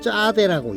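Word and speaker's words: צדי: 그다음 글자는 짜대라고 읽습니다.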